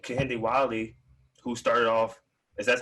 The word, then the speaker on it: Kehinde Wiley: We have someone like Kehinde Wiley, who started off, as that's how you say his name.